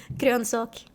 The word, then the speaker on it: grönsak: Grönsak.